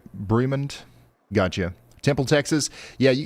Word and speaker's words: Bremond: We got a he got a Even better, Brim B Bremond.